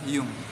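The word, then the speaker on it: jung: harus diperhatikan ya Yum Jadi huruf j itu dibaca seperti huruf y dalam bahasa Jerman jadi cara baca yang benarnya adalah Hyung artinya itu ada di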